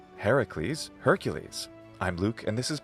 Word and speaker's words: Hercules: When we have that long S as an ending in Latin, frequently we make that ease in English, right? So, Hercules, that makes sense as a pronunciation.